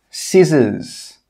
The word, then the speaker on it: scissors: The first rule is that when the letter C comes after an S, it's normally not pronounced. Some common examples are scissors, muscle, ascend, conscious.